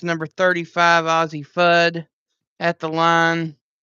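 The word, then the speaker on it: Fudd: First shot in, it's number 35, Aussie Fud at the line. I wonder if she pronunciates it FUD or food. Just curious. It's fud. You would think it would be FUD, but score 19 to five.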